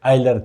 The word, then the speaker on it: Euler: करूंगा यह वाला टॉपिक आइलर थ्योरम और इसमें साइलेंट है इलर हम बोलते हैं मगर ठीक है ईलर बगैर सो के आइलर थ्योरम।